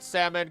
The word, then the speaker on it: salmon: spelled Salon or salmon the L was added to make the word closer to it's Latin rot the L is silent and the word is